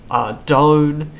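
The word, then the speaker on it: Ardougne: bunch of different ways obviously the correct way is adone because what noise does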